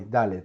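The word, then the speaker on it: דלת: Okay, so this is the letter Aleph. Sorry, Dalet, Dalet. And let's see, Dalet. Now you can tell me that this letter, it resembles the letter Resh, right? Well, let's see how the Resh looks. This is Resh. This is Resh. Now notice that the Resh ends in a curvature. It has a curvature here, but the letter Dalet it's made up of 2 lines.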